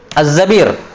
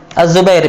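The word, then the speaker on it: الزَّبِير: Dia karena pengetahuannya masih minim, dia kira semua yang bacanya seperti ini, dia baca Zubair. Akhirnya dia baca Az-Zubair bitasghir. Nah, ini akhirnya jatuh dalam kekeliruan. Namanya apa? Tahrif. Karena yang benarnya Abdurrahman ibn Zabir, bukan Abdurrahman ibn Zubair.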